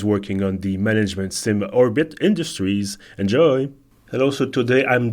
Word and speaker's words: Orbit Industries: want to be sure do we pronounce it orbit dot Industries or is it just for visual effect more it is for visual effect so orbit Industries is correct that's perfect so orbit